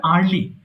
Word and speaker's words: early: from sleep early in the morning. আচ্ছা এটা কিন্তু ইয়ারলি হবে না, উচ্চারণ হবে আর্লি। আর্লি। Early.